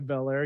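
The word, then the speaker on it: Belair: Shayna Baszler versus undefeated Bianca bel-air you have to say it like that otherwise she will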